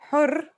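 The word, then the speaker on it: حُرّ: For example, here are two words that have the same letters but are pronounced differently and have different meanings because of the difference in voweling. Har means hot, while hur means free.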